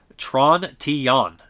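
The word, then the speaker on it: Trintignant: The G and the final T become barely pronounced, so it's pronounced Tron-Tillon. Tron-Tillon. So weird. John Louis Trontinon.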